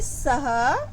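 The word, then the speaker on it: सः: इसको बोलेंगे सह एव महान चित्रकार। ठीक है? विसर्ग लगा है ना? ह का उच्चारण आता है।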